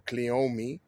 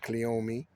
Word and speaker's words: cleome: What we call pink cleome or cleome. Some people pronounce it cleome. No right way, no wrong way to pronounce it. It's like saying potato or potato. Depends on where you're from, but they grow all over the place.